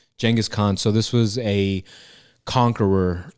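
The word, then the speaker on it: Genghis Khan: Uh the the correct current pronunciation is Jen Jangghis Khan. Oh, is Jangghis Khan Jenis instead of Genghis? I said it before that. So it's Jenis Jenghis Khan.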